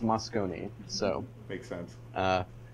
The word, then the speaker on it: Moscone: i am told by locals that it is pronounced moscone so makes sense uh right okay so this